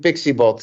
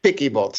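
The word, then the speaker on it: Piccy Bot: with voice over and everybody started calling it pixie bot but it is picky bot yeah picky bot awesome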